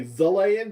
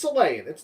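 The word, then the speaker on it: Xelayan: character, the Selayan character, I want to say Zelayan because I see it spelled with an X, but it's Selayan.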